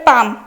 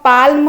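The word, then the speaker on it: palm: तापर पाम पाम आमे कौन पाल्म कहते एल उच्चारण करूना आमे पाम कहते पी ए पा मरे हलंत मा म एमटा हूँ म पाम कहते पाम है पापुली एलटा तार साइलेंट।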